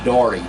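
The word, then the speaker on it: Dougherty: through our old hometown of Doherty d-o-u-g-h-e-r-t-y but it's pronounced darty d-a-r-t-y the old home place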